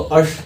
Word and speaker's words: ash: इम्बर्स मतलब राख, राख का एक और मतलब होता है ASH, एस मतलब राख, मतलब एस मतलब गधा नहीं, उसको अश, प्रोनाउंसिएशन अश बोलते हैं।